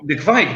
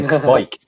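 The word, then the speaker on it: Kveik: it down pat, but I say Kvike like that. I just put a little pronunciation on it. Kvike. I think it's Kvike, but I think I heard the pronunciation from a video by the Craft Beer Channel when they actually went to, I think it was Norway, and brewed with. Yeah, I think they said Kvike, so that's where I got my pronunciation from.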